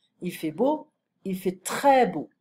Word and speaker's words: très: Il fait très beau. Très. I don't pronounce the S.